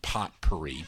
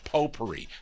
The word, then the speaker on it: potpourri: for a whole lot of potpourri, not potpourri, potpourri. There, I said it right.